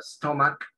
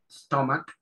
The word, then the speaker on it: stomach: Como había dicho la compañera, la palabra stomach, que en inglés la CH esa se pronuncia como una K, stomach, eso va, ¿dónde va el estómago?